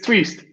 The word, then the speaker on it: Twist: surname there i do it's it's twist there you go there